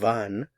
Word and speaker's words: wann: Notice the pronunciation, wann.